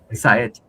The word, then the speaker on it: Saed: clarify that I mean a lot of people would make this a little mistake but my name is pronounced sed yeah okay that sounds good convers Thank you.